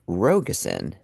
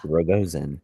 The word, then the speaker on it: Rogosin: I have my last name is pronounced Rogusen, not Rogoen.